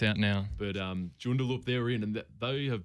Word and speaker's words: Joondalup: Joondalup. Is it Joondalup? what is it? I don't know Yes. how else I'd pronounce it.